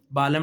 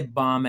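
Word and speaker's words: balm: बालम नहीं पढ़ना ना इसे बाम है यह लफ्ज अच्छा जी जल्दी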